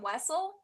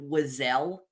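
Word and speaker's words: Wesell: So, Zam Wessle, that's what I was like, it's kind of a we bean this point to the ground.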